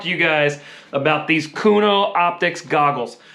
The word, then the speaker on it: Khuno: you guys about these kuno optics goggles i hope i'm saying that right i am not 100 sure but i think it's kuno optics i believe is how it's pronounced it's k-h-u-n-o i'm so stoked on